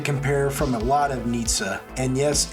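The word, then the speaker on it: Nietzsche: are going to compare from a lot of Nitza and yes it's pronounced that way I went to Google Translate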